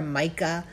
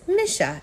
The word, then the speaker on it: Micha: They'll call her Micha or Mika, but it's Micha, and it rhymes with Fish, Wish, Trisha, and Michigan.